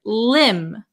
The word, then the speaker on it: limb: B Marcel very good the B is also silent so we would pronounce this word Lim Lim Lim okay then